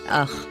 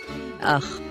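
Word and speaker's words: אח: The Hebrew word for brother has the letter Aleph and the letter Chet. we pronounce it as Ach. Ach.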